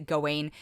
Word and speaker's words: Gawain: he plays sir gawain or they keep they pronounce it a bunch of different ways so but i'm going to pronounce it going it also stars alicia